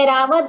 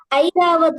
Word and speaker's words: ऐरावत: हम सोचते थे एरावत होता है, ये ऐरावत होता है, देखिए, आई। इसका प्रोनाउंसिएशन आई ही निकलता है, इसमें जो संधि हुई है मैं आपको कल बताऊंगा इसकी कैसे ये आई शब्द बना है, वो एरावत है, ऐरावत नहीं होता है।